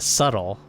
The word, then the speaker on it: subtle: It should be pronounced subtle.